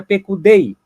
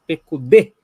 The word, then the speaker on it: Pekudê: Olha, presta atenção, porque tem um Yud no final dessa palavra, tá? Mas ela não é esse Yud não é pronunciado. Então não é Pekudei, e sim Pekudê.